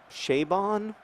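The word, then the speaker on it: Chabon: Kavalier and clay by Michael shaven or Chevonne or however you say it he always says it rhymes with radon but I don't actually find that very helpful um che bond I guess rhymes with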